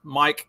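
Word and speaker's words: Myke: Also, as a preface for those who are just listening to this, the author of this is Mike. It's spelled M-Y-K-E, Mike with a Y.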